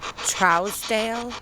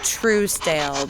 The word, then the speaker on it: Trousdale: clearly they pronounced it Trousdale where I I know most people pronounce it true stale but I believe it was pronounced Trousdale up here Mr trouser are you